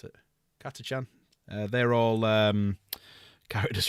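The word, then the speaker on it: Catachan: Uh, a lot of the um the jungle fighters um Katchans, Katchan, that's how you pronounce it. Katachan.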